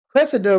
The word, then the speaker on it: Cressida: Cressida rhymes with replica.